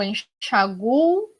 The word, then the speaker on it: enxaguo: uma ressalva de que se eu coloco o acento, eu vou pronunciar a sílaba tônica no chá. Se eu não coloco o acento, eu vou pronunciar a sílaba tônica no gu, enxagou.